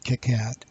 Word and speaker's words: KiCad: PCB software called Ticats I'm pronouncing Kitcat while there are many